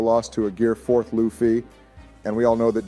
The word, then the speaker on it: Luffy: Luffy name wrong okay it's not Luffy it's Luffy I will have to